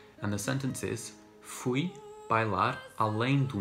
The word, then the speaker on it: bailar: In the second and fourth words, bailar and mar, at the end of the word you have the letter R, which we pronounce as R, which is the sound of the tongue flicking the roof of the mouth.